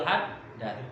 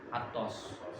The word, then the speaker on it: Haddad: Oke, kalau di pondok-pondok itu dibacanya rotibul haddad. Kalau majlis-majlis kebanyakan bacanya rotibul atos.